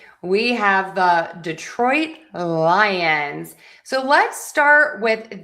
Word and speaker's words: Detroit: So, we have Detroit Lions. Detroit Lions. Also, my T is last released here. So, you might hear Detroit. And it doesn't sound like there's a T.